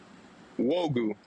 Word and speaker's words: Nwogu: Nwogu. The N is silent.